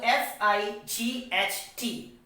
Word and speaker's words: fight: it is said that if the words end for the letter g h t then g h is becoming silent so f i g h t fight another example we